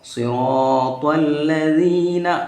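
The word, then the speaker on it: صِرَاطَ الَّذِينَ: যদি রার উপরে আমি বলেছিলাম জবর কিবা তো পেশ হয়, তাকে রাকে মুখ ভরে বাহির করতে হয়, সোয়াদটাও পুর হয়, তোয়াটাও পুর হয়। তো এখন আমরা এখানের মধ্যে যদি সিরাতাল পড়ি তাহলে আমাদের নামাজ হবে না। আমরা কীরকম পড়তে হবে, সিরাতাল, সিরাত, সিরাত, সিরাতাল্লাযীনা। এখানের মধ্যে দেখেন লাল আছে, লালটাকে পাতলা করে পড়তে হয়, যা যেটা আছে সেটাকে গাড়ি করে পড়া হয়।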